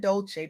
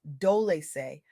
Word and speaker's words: Dolce: I'm your host Dolce, pronounced dol-e-say, like sweet softness whispered in French.